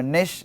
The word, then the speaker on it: niche: So niche is one pronunciation this need not be the only correct pronunciation different people say it in very different ways so and all of them are accepted okay similarly apoptosis apotosis